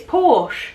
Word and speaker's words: Porsche: they say is porsche porsha oh yeah the car we don't say porsche and i don't think it's actually i don't think it is porsche no it's porsche porsche the e is silent porsche so you can